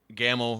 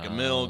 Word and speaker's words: Gammill: it's uh g-a-m-m-i-l-l and gammel rhymes with camel that's the reason i